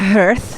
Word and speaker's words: hearth: It's hearth. Hearth? Like heart, but with an H on the end of it.